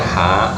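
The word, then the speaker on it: ح: Huruf hijaiyah ha makhrajnya adalah dari tengah tenggorokan dengan suara bersih, jangan mendengkur. Contohnya ha hi hu ah, ha hi hu ah. Jangan diucapkan mendengkur.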